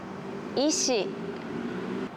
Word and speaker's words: 石: 石これは皆さん分かりますか ?